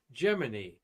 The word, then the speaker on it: Gemini: aircraft and 16 ships involved in the 1965 geminy program and by the way it is I meant to download that it is pronounced Jiminy like the the uh Walt Disney Pinocchio movie